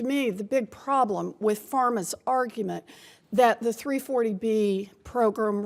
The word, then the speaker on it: PhRMA: Riley, your organization, called PhRMA, I think is how it's pronounced, represents drug companies, and according to HRSA,